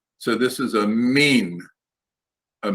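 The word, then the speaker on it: מִין: not a mine m-i-y-n the i-y is pronounced like a long e so this is a mean a mean and you can see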